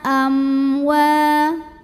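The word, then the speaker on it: أَمْوَالَ: Ada idhar syafawi karena ada mim sukun yang menghadapi huruf selain mim dan ba, di mana ini hurufnya waw. Maka cara bacanya mim sukun ini dibunyikan dengan idhar atau jelas.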